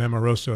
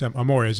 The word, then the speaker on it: Amores: I think I added another syllable to him, called him Amoroso. It's Amores, as you said.